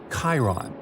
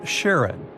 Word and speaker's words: Charon: Styx, Nix, Kerberos, Hydra, and the most mysterious one, Chiron, also pronounced Charon. So you can pronounce it however you like. I'm going to go with Charon.